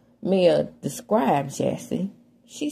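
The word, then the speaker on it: Jassi: It's Jassy. But they call it Jazzy. But it's spelled J-A-S-S-I.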